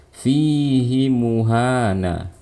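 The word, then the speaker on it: فِيهِ مُهَانًا: Contohnya dalam surah Al-Furqan, fihi muhana. Seharusnya kita nggak boleh membaca panjang. Cara bacanya seperti tadi, fihi muhana. Nah, tapi karena ini pengecualian, hi-nya dibaca panjang.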